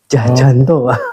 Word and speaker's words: Tjahjanto: Ya, itu inisial C karena ejaan lama ya. Ayah saya enggak ngizinin dirubah. Jadi dari ijazah SD sampai sekarang ya nama saya ya Jah gitu ya.